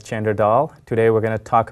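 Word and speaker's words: Chander Dhall: hello my name is chander dull commonly pronounced as chander doll today we're going to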